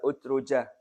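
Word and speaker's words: أترجة: gak bangun-bangun Bismillahirrahmanirrahim Al utrujah Nah tadi itu matsalul Mukmin alladzi yaqraul quranalil utrujah tadi udruja itu cara bacanya bidomil hamzati Wari utruja wahiya marufah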